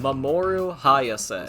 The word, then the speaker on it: Mamoru Hayase: Mamoru Hayase. See you around. That is exactly how you pronounce that.